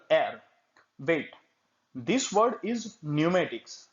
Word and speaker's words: pneumatics: Wait, this word is pneumatics, not pneumatic. Never pronounce it like pneumatic because P is silent in this word.